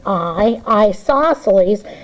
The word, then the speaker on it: isosceles: Now, it's not spelt with the word I, but you pronounce it with the word isosceles.